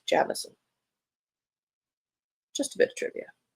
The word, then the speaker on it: Jameson: she's in Australia and she says the way to pronounce Jameson in Australia is Jamison just a bit of